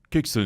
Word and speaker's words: Kexin: Alors, on a assisté à une démonstration de Kuksun. J'ai bien prononcé ?